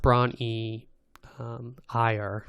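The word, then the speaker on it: Bron-Yr-Aur: then um and braun it's pronounced braun e um higher which it's welsh um that's um i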